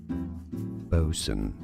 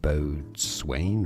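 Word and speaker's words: boatswain: loads to learn here bosen yeah I know the spelling is confusing loads of silent letters it should be said B Swain right no bosen bosen bosen bosen Bo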